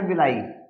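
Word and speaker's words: villi: हिंदी वाले दीर्घरोम ध्यान रखें, इंग्लिश में ध्यान रखें विलाई, विलाई बोलते हैं हिंदी में इंग्लिश का, लेकिन इंग्लिश की स्पेलिंग ध्यान रखें विले होता है सब।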